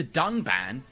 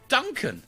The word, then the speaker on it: Dunban: strongly disagree with and then calls the character dunban Duncan this time however they did edit out out